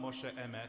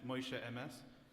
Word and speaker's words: Moshe Emes: It kind of fits really well with a very Yiddish pronunciation of, it's not Moshe Emet, it's Moshe Emes.